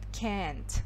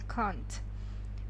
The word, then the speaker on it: can't: Американский вариант, он больше идет «can't». Они прям так и произносят «can't». А британцы, они больше произносят «can't».